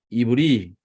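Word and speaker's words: עברי: 하이브리라고 읽습니다. 요거는 영어의 H랑 마찬가지예요. 예, 이거 빼면 이브리, 예, 예, 이브리, 예, 히브리 사람.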